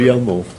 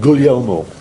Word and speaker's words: Guglielmo: Guglielmo. Say it? Guglielmo.